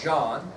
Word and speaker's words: Jean: So this French pirate is going to join forces, Jean Lafitte, and it says, it looks like Jean on your ID sheet, but it's pronounced Jean.